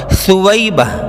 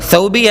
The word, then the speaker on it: ثویبہ: نام ہے شیماء، شاکرہ، ثویبہ، یہ سا سے ہے ثویبہ، ثوبیہ نہیں، وہ غلط تلفظ